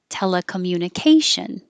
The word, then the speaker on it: telecommunication: had a long word telecommunication the te is secondary stress so it'll get a little longer and you should be able